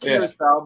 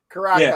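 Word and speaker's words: Curaçao: Pronounced Kurissau. But yes, Karaka is how we always called it.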